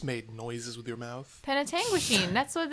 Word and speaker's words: Penetanguishene: Penetanguishene, that's what it's pronounced.